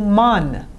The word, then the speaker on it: مان: Me with an changes to man for our. Te changes to tan, and she changes to shan, and all of them in spoken change to un. Man changes to moon, tan tun, and shan shun.